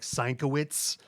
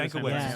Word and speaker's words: Sienkiewicz: like Sienkowitz That- was that's- how I read it yeah. forever. Same I thing. still do Sankiewicz. Sankiewicz, yeah.